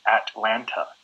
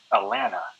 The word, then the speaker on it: Atlanta: pronunciation of the word like in the correct pronunciation would be Atlanta right mm-hm but somebody who's from there or